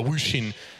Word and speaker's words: Wushin: A Wushin, as I've been informed his name is correctly pronounced.